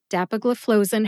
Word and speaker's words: dapagliflozin: first it is Dagen Dagen has five syllables dap like my husband looks Dapper in a suit uh which is a short a sound or a schw a